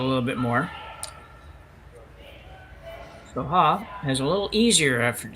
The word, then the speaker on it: Ha: One good thing about her last name is it's pronounced exactly the same in English as it is in Korean, from what I can gather.